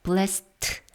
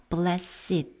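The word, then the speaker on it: blessed: 행복한 이런 뜻입니다 그리고 블레셋은 여기서 형용사기 때문에 blast 하고 있는 것이 아니라 blesset 이렇게 발음으로 한다면 발음입니다 blass make는 온유한 것이죠 형용사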